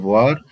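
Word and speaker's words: vois: هنا بص يا ابني فوا الاس ما انطقهاش والحرفين او اي هنا هم انطقهم وا.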